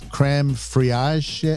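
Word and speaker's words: crème fraîche: ingredients is this uh i can't even pronounce it it's it's creme friage it's a it's a french word creme frai cran it's it's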